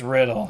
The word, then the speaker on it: Riddle: How do you pronounce it? It's Riddle or Riddle? Oh, yeah, it's just Riddle. Okay. It's just, it's Yeah, it's an phonetic. English word.